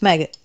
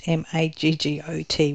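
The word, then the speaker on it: Maged: The way it sounded was if he was saying maggot, M-A-G-G-O-T, which is why I had to ask him to say his name a couple of times. But it was maggot, M-A-G-E-D.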